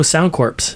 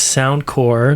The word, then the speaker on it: Sound Corps: yeah sound core and it's spelled sound c-o-r-p-s and everybody says oh sound corpse and it's like no it's not sound corpse it's sound core much like americorps or marine corps or peace corps so you can find